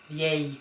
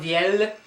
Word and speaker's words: vieille: So it's vieille, and the long E at the end. Vieille, vieille. So please don't pronounce this L here, yeah? So it's not vielle, but it's vieille. And you just make this I, E sound longer.